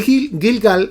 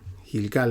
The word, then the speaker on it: Gilgal: lado oriental de Jericó Espero que esté pronunciando Esa esa ciudad bien gilgal es lo que creo que se pronuncia y aquellas doce piedras